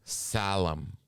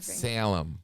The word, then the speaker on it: Salem: to Tacoma and Salem I don't know why you keep pronouncing it that way solemn it's very unnerving Salem Salem then we're going to